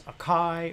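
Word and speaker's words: açaí: and acei acai and you pronounce it aci i had to look that up because i wasn't sure if it was akai or acai but the cool thing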